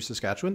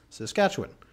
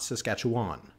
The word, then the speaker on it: Saskatchewan: For example, I learned when I went to Saskatchewan that it's Saskatchewan. It's not Saskatchewan. Saskatchewan. You kind of it's imagine that A is like a little Y or an I. Saskatchewan.